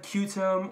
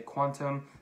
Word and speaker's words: Qtum: promoting is quantum org it looks like put'em or quantum I'm hearing a lot of people from the community say quantum so that's how I'm pronouncing it in this video so if you click